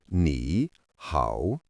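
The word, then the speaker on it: 你好: The first phrase you need is pronounced nihow.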